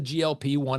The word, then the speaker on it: GLP-1: like peptide that's the glp one it's not pronounced gulp even though you gulp food and that's kind of